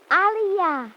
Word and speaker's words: aliyah: centuries of progress for all mankind youth aliyah say the words again youth aliyah youth we